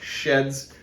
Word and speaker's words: SHEHDS: the sheds website and the proper way to say it is sheds basically just take the second H out my general opinion on